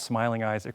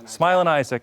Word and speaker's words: Smilin' Isaac: It's not Smiling Isaac, right? It's Smilin. Smilin Isaac.